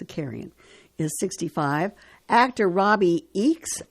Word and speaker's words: Zakarian: Celebrity chef Joffrey Zakarian Zakarian, that's what it's pronounced, Zakarian, is 65.